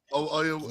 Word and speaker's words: Oyelowo: David uh I can't pronounce his last David O. Uh Oyelowo. Oyelowo.